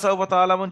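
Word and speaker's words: تَعْلَمُونَ: তো ওয়াওলিনের পোড়ায় ছিল সাওফা কাল্লা সাওফা তালামুন কাল্লাফা সৌফাতা আলামু হুম এখানে তা আইন জবর তা এখানে আইনটা গলার মাঝখানে থেকে উচ্চারণ হয় আমরা জানি তাহলে গলার মাঝখান থেকে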